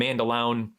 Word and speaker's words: Mandaloun: I've laid out my rationale why I like Mandaloun, and Mandaloun is apparently the pronunciation. I apologize. I've been saying it incorrectly all these months.